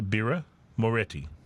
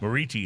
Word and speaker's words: Birra Moretti: Is that how you say Birra Moretti? Yes. Birra Moretti. But Moretti is apparently a common mispronunciation. Moriti is sorry. Moriti is the common mispronunciation.